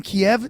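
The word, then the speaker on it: Kyiv: thank you for having me are you in kiev right now oh yes i'm just in downtown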